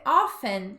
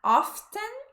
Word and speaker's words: often: E aqui, esse often, você pode falar often, pronunciando o T, ou só often, os dois estão certos, tá?